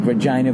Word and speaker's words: Regina: that Nate and I did two shows in Regina, and neither one of us went with the easy joke. Nobody did the stupid, it rhymes with fun. Nobody's like, Regina, vagina, what's up with that?